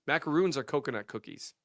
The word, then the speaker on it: macaron: Yeah, macarons. Macaroons are coconut cookies. Macaroons are coconut cookies, and macarons are the Macarons. I think you still added a syllable.